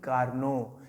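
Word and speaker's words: Carnot: यानी कैरनॉट, एक चीज़ देखें, कार्नो की जो इंग्लिश होती है, आप स्पेलिंग देखिएगा, कैरनॉट है, कैरनॉट्स हीट इंजन, कार्नो का आदर्श ऊष्मा इंजन।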